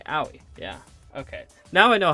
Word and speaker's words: Aoi: I think it's Aoi, yeah. It's like Yaoi, but without the Y. Aoi, yeah.